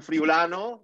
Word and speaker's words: Friulano: As your father say, it's written Friulano, but it's pronounced Tokai.